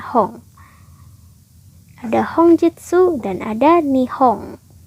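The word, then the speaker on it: 本: Yang tetap hanya kanji hong ini aja ya. Di belakang dibacanya hong, di depan pun tetap dibacanya hong.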